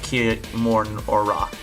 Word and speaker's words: Kimura: I think his last name is pronounced Kimura.